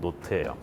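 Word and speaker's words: knot: 그 다음에 이제 저항 추진 수업에서 제일 중요한 단위가 나오는데 그게 뭐냐면은 노트예요. 그냥 노트라고 하면 앞에 K 묵음입니다.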